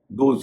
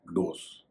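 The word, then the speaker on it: dose: लेकिन रोज से मिलता जुलता एक और शब्द है डी ओ एस ई खुराक इसे कई लोग रोज को देखते हुए डोस कह देते हैं। इसका सही उच्चारण है डोस।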